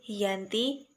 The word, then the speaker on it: Giyanti: lokasi penandatanganan perjanjian yaitu di desa Janti dalam pelafalan Belanda disebut Yanti dan secara tertulis terbaca sebagai Giyanti tempat tersebut dikenal dengan